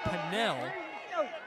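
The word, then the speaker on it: Pannell: Number three for Tennessee, Taylor Panel, going up against number 78, spelled like Taylor Panel for Missouri, but it's Taylor Pinnell.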